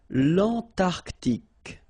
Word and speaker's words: l'Antarctique: Remember, Q-U-E here, it's K. Okay, so tic. L'Antarctique, l'Antarctique. L'Eurasie, final E not pronounced.